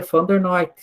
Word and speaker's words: Van der Neut: era Van der Neut, ele era holandês, só que a pronúncia é Van der Noot.